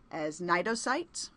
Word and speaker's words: Cnidocytes: The stinging cells we talked about that are used for prey capture actually known as Cnidocytes "cyte" = cell to